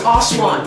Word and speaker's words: Oshaun: Oshaun in the building, man. Oshaun. Definitely, man. I heard Definitely. people mess it up though. So. How have they messed it up? No, it's Oshaun.